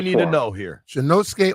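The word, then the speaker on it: Shinnosuke: I'll let you tell me how to pronounce it. All right, I believe I have it finally. It's Shinosuke Ogasawara. Okay. Ogasawara. What do we need to Ogasawara. know here? Shinosuke Ogasawara.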